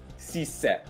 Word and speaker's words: Ceesay: Il Lecce ha preso Hassan Cissé. Intanto, ragazzi, già questa pronuncia è un ottimo punto di partenza. Lo sapevate che si pronuncia così o vi ho detto una novità?